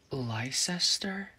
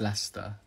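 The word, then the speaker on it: Leicester: um i study here lycester it's pronounced lester oh lester okay okay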